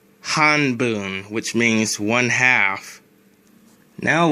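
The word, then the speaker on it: 半分: be neat bundle ichi however you usually don't pronounce this fraction like that you usually pronounce it like this hun boom which means one half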